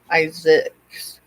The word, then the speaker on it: Isaacs: I've got family members that are Isaac, have the Isaac last name, but it's pronounced Isaacs.